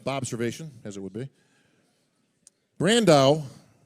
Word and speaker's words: Brandão: Brandao rhymes with Sandow.